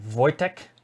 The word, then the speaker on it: Wojtek: Anna and Wojtek. That's how it's pronounced.